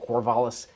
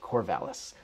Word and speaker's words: Corvallis: in your mouth while you're saying it, Corvallis. It's more like Corvallis.